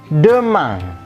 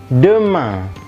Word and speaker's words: demain: Besok itu adalah demain. Demain. Demain. IN berbunyi ang, maka ketemu A ini menjadi makin tegas ang. Kemudian E-nya tidak ada aksennya, maka itulah besok. Dibacanya demain.